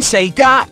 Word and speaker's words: Sega: So now, we will be sending those sound files we've recorded to Sita. Don't you mean Sega? I know how to spell it, Dino. Say Sega next time!